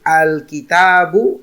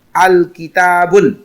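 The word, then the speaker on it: الكتاب: Jadi salah kalau kita baca al-kitabun. Salah. Karena dengan ada al dia tidak boleh lagi tanwin al-kitabun. Atau sebaliknya juga salah kalau kita tulis kitabu tanpa tanwin. Dia tidak ada al tapi akhirnya tidak kita berikan domatain. Kita baca kita tulis kitabu juga salah.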